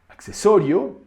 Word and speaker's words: accesorio: In Spanish, we will also find words with doble C, but doble C always sounds like X, as in colección, accesorio, and diccionario.